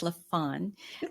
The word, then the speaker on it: LaFon: I said LaFon. It's LaFon. And it's exactly how it sounds. LaFon. I started out saying it right and I messed it up.